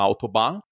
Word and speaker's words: Autobahn: Se você já esteve numa autobahn, olha a minha pronúncia aqui maravilhosa.